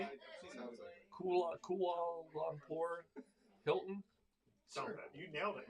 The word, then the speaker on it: Kuala Lumpur: Kuala Lumpur Hilton.